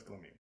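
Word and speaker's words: golemim: Golems is easier to say than glamim, but the technical Hebrew plural is glamim. Glamim, like M-I-M at the end. Yes. Okay. Eem is a masculine plural ending in Hebrew.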